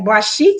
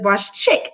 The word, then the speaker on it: Boss Chic: c h i c all right it's like bosik but it's BOS chick that's how I pronounce it and it is what it is